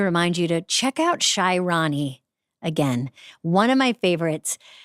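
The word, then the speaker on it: Shy Ronnie: Um, and I guess for uh, this Polar Plunge, I just wanted to remind you to check out Shyroni again.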